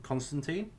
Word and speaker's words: Constantine: back John Constantine.